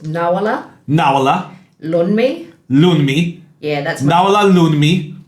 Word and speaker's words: Nawoola Loonmi: So it's pronounced Nawoola Loonmi.